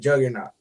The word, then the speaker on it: Juqqrnaught: I'm hoping I'm saying this right, Juggernaut. Yeah, there you go. But it's spelled JUQQRNAUGHT.